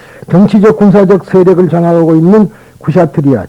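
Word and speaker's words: क्षत्रिय: 그러니까 우리는 찰제리라고 발음하지만은 인도 사람들은 쿠샤트리라고 발음한다.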